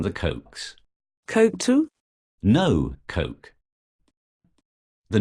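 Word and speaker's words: Koch: certainly looks like things went bust and what Cox Phil was talking about Cox this morning I believe you mean the cokes Coke too no Coke the name of the billionaire brothers who backed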